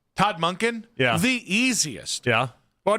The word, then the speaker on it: Monken: Mac, somebody would say Monken's name wrong. Can we get a Monken? Todd Monken.